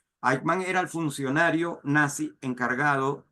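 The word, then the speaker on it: Eichmann: Ik se escribe e i c h m a n. Aikman era el funcionario nazi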